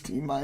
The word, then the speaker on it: Timinus: It's T minus. I am fine with him saying Timinus. No, it's T minus. It is. There's not a dash. It's an I. It doesn't. That's why it's spelled that way.